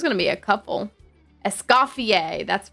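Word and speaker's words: Escoffier: Essafier. That's right. Essafier. Thank you.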